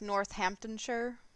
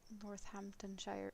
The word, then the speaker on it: Northamptonshire: out on stuff like the name is spelled about X Y and long and then you just say half of it like like that sauce that no one can pronounce because it's you just don't say all the letters I don't know why